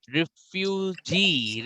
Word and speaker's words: refugee: बट जब आप रिफ्यूजी के बारे में बात करोगे तो जी में आपका प्रोनाउंसिएशन ज्यादा होगा. रिफ्यूज, रिफ्यूजी, रिफ्यूज, रिफ्यूजी, जी पे आपका एम्फेसिस ज्यादा होगा.